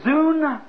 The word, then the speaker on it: zoon: See, these are, what is zoon, Z-O-O-N? Living creatures. Living creatures. It might be pronounced zon, Z-O-O-N. How would you pronounce that? Zoon? Zoon, I'd say.